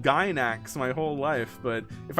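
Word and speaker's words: Gainax: Is it not pronounced gax? Gax. I've always heard it pronounced gyn ax. I guess if I think about it as a Japanese word, it would be gynax. It would be kind of like how you wrote it.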